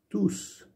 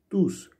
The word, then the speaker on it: tous: Tous. Tous. Comme le précédent cours, on avait bien vu que le S il se prononçait. Tous.